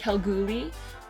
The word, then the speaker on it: Kalgoorlie: is Cal GUI Western Australia look how girly it's spelt how we but it's just quel groovy which is funny because we are from Edmonton